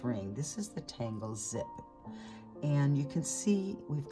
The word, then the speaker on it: Xyp: Our second tangle is zip. XYP is how it's spelled, but it's pronounced zip.